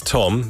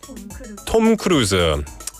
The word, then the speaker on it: Tom Cruise: Well, in England it's Tom. In America it's Tam. And then, what is it in Korea, Ang PD? 한국에서 뭐라고 하죠? Tom Cruise. They say it properly here.